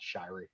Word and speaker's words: Shiery: spelled Shi ery which is not how you pronounce Shirey so it's an old family split along the